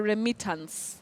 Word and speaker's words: remittance: word, I'll spell it out, Remittance. Remittance or remittance?